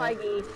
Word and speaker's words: Feige: How do you pronounce that? Feige, yeah.